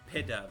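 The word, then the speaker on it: Pidove: I want to figure out how this is actually supposed to be pronounced. So it is P-Dove. It's just Pigeon and Dove.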